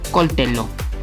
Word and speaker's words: coltello: Cucchiaio, coltello, recuerda, es doble consonante, aunque en español la doble L se lea como una Y, en italiano no sucede así que se dice coltello.